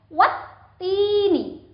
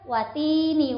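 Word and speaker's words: والتين: Al di awal huruf sebelum ta itu tidak dibaca, sehingga huruf wawu itu langsung dihubungkan ke huruf taknya dan dengan ditekan. Wat-tini, bukan watini, wazaitun, itu salah ya, harus ditekan.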